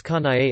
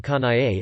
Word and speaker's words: Kanae: Also if it's kanae as in kanae it is 3 syllables. The e or e, which in English wouldn't be counted in Japanese would.